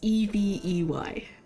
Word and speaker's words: Evey: But yeah, I always like to say it's Eevee, like the Pokemon, yeah. Exactly like the Pokemon, though not spelled the same way. It's Evey.